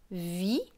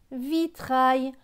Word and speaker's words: vitrail: Avec AIL, AIL se prononce aïe. Donc tre et aïe, ça fait traille. Donc ce mot va se lire vitrail. Vitrail, le vitrail.